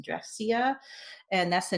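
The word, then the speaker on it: Drexciya: So this one particular album, I believe their name is pronounced Dressia, and that's the name of the underwater society in their minds.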